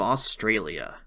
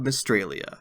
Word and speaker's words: Mystralia: Today we'll be talking about Mages of Australia. No, wait, I learned how to pronounce it this time. Mages of Mystralia, where we play as Zia, who kills her